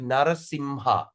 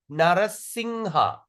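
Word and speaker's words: नृसिंह: Sometimes we pronounce it Narasimha. No doubt, no problem. But at the same time, we also pronounce Narasingha. Singha. Singha means lion.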